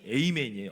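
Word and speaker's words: Amen: 성이 에이맨이에요. 아멘. 우리말로 아멘하고 스펠링이 똑같아요.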